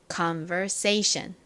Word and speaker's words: conversation: 번 더 해 볼게요 가장 큰 강세가 여기 부분에 들어가요 say 부분에 들어갑니다 conversation 한 번만 더 해볼까요